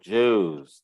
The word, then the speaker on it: juice: lamb and drinks milk juice pronunciation milk uh-huh juice thank you Jews the letter i is silent okay and uh a